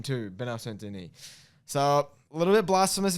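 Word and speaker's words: Benoît Saint-Denis: Benoit Saint-Denis, the God of War. Or, as our friend Dossie would call it, Dennis Saint Benoit.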